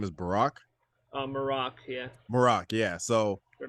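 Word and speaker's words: Marrok: Marak. Yeah. Marak, yeah. So Or Merrick, but something like that.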